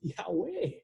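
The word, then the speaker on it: Iove: It's pronounced Yahweh. With the J, I sounding like a Y.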